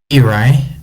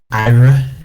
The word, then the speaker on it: Eri: But I think his name is Eri. I know someone thought his name was like Ira, I think but that's more what I thought at the time, but Eri sounds I right think too, yeah. I think Eri sounds better.